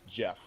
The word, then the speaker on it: Geoff: or g hoff griffin it's spelled g off but it's pronounced jeff it's calling jesus at